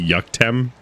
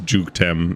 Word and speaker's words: Jukem: Or have I been mispronouncing your name? Is it actually Yuck? Are you Swedish or something? This is derogatory. Ooh, nice way to get up there. No, it's Jukem. Yeah.